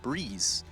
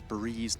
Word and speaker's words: Breeze: Mitch, No One, and Breeze is the correct pronunciation. It's not Breezy. I have that had Vince confirm that it's Breeze, not Breezy.